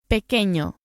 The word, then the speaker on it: pequeño: Pequeño. The wavy line known as the virgulilla on top of the N turns the sound into a ñ as in onion or España. Ñ, pequeño.